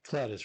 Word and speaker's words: Cladis: Yeah, Cladis. Rhymes with Gladys, except with a C.